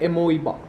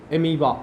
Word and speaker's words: amoeba: तो binary fission करता है एमोइबा, एमीबा, जो भी बोलते हो, प्रोनाउंस कुछ भी कर सकते हो, स्पेलिंग होगा AMOEBA। और मल्टीपल फिजन कौन करता है?